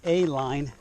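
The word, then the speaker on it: Ehline: now it's the terrible a line that's how it's pronounced even though it's spelled e h l i n e and that's what i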